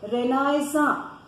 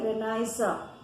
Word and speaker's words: Renaissance: हम बार बार जो word use कर रहे हैं बच्चों, Renaissance. वापस से सुनो, Renaissance. इसकी स्पेलिंग भी चेक करो, RENISSANCE. ये एक फ्रेंच वर्ड है, इसलिए हम इसको प्रोनाउंस कर रहे हैं Renaissance.